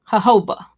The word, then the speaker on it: jojoba: okay the more you know oh ho bah jojoba okay it's pronounced thank you babe there's Derek C Williams